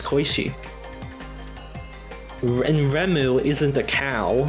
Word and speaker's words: Koishi: How else do you pronounce Koishi?